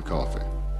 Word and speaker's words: Coffey: your name is Coffey yes sir boss like a drink only not spelled the same press clumsily drafted as